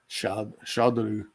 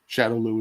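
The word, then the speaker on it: Shadaloo: Shadolu. The Shadowloo is basically the Japanese pronunciation of the word shadow.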